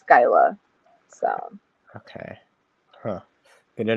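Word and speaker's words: Scylla: this one yeah Sila this is called Skyla Sky it doesn't it doesn't look like it because it's s um c y l l a but yeah pronounce it it's Skyla so okay huh good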